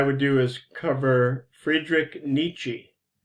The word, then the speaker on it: Nietzsche: And I thought what I would do is cover Friedrich Nietzsche. You pronounce his name like 2 syllables. The first one is neat, and the second one is chi, Nietzsche.